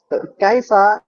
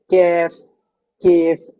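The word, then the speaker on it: كيف: আলাইফা অর্থ হচ্ছে কেমন কাইফা এই শব্দটাকে কিন্তু আঞ্চলিক আরবিতে কাইফা কেউ বলে না এটাকে বলে কেফ এরকম বিভিন্ন শব্দ বলে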